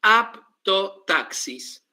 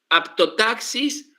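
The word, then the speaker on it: haptotaxis: ¿Cómo se escribe aptotaxis? Con h. H h h a p t o apto taxis. Como un taxi, ¿no? Aptotaxis con h y con p.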